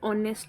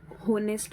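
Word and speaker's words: honest: ऑनेस्ट, इसकी pronunciation ऑनेस्ट होती है, आप इसे होनेस्ट मत पढ़ना।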